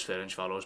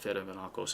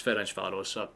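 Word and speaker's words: Ferencváros: I know it's Fen Faros, but Feros is just how it's pronounced to me, but it's Fen Faros.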